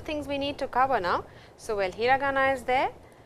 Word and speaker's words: ん: Now, we have m. This is the last syllable of the 46 syllables in the first set. It's the sound of n, which you will see in minasan or Remon.